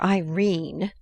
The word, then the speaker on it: Irene: by Edith Wharton coward my daughter Irene said Mrs Carr style she made it rhyme with terrine has had no social